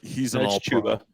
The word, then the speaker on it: Chuba Hubbard: I mean, I will never get over pronouncing his first name Chuba. If he's Chuba Hubbard, like he's an all Chuba.